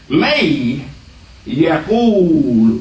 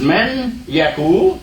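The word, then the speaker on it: من يقل: So we don't say man, we say may. May Yaqul. May Yaqul. That's the rule of Tajweed, all right? So you're not pronouncing actually what's there, which is man Yaqul.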